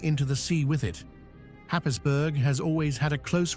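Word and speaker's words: Happisburgh: Perched precariously on the crumbling cliffs of Norfolk's east coast, Hapisburg, pronounced Hayesboro, is a village quite literally disappearing.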